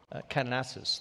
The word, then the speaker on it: Kananaskis: Well, the President cut his time short in Kananaskis. That's right. Yeah. Have I got the pronunciation? Call it Calgary if you want. Yeah. Alberta. There you go. Kananaskis, there you go.